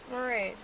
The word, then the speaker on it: Mairead: Maraid. How do you spell it?